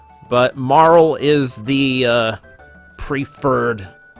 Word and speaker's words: Marle: I called her Marley for years because in my head, I'm like, why would you put an E that you're not supposed to pronounce? But Marl is the preferred pronunciation,